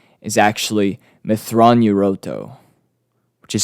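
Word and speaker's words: Mitth'raw'nuruodo: so grand admiral thrawn's real name is actually methron yuroto which is spelled now bear with me m-i-t-t-h apostrophe r-a-w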